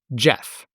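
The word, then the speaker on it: Gef: It spelled out its preferred name phonetically, one letter at a time. G-E-F. Jeff.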